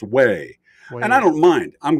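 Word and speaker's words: Huế: was pronoun it was spelled Hugh but it's pronounced way and I don't mind I'm glad somebody wrote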